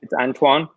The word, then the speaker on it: Antoine: how to pronounce this is it aunt wah or is it like okay this issue Antoine Rizk oh there we go Antoine nice Antoine got it awesome so Antoine has